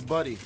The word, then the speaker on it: Buddy: Do you understand me? I understand that. That's my whole thing. It's Buddy. Okay, you are saying my name wrong.